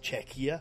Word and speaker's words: Czechia: is it czechia now it's spelled like Czech but with an i a right on the end of Czech so it's czechia cze before before we